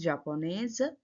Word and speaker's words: japonaise: Okay, here z. You have to pronounce. Je suis japonaise.